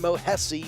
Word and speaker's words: Mohesi: in both dexter and mohesi yes it rhymes with jesse his name made their debuts both